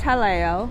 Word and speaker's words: Jaleo: We are at I think it's pronounced Haleo, I believe.